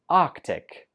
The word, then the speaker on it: Arctic: And last one, number 25, we pronounce this Arctic. Arctic. Just two syllables.